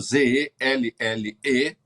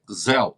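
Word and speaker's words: Zelle: Se escreve realmente o sistema de pagamento Z-E-L-L-E, mas se lê ZEL, se pronuncia ZEL.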